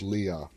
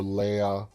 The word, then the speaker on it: Leah: I think the right way to pronounce it is Leah. For me, Leia, I keep going to my Star Wars, and it's like Princess Leia. But it can be either Leah or Leia.